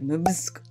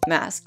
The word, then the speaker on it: MVSK: for this video because it's spelled mvsk except first i thought it was like musk but i'm glad that it's mask because every time i will